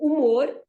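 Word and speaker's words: humor: okay then the word umor as an American English they write h-u-m-o-r no you they so umor is written the same way in Portuguese but again the H has no sound at all right honest again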